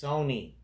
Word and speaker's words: Sony: It's Sony. Oh, Sony. Listen, Sony. I don't know Sony. why you get Sony, because the brand Sony, you pronounce it Sony I know, and not but Sunny.